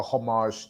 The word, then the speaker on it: homage: Is it homage or homage? Homage. Homage? Oh, all right. Jeez, I was wrong. Homage. Homage. Homage. Oh, I love homage. It just depends on where you're from.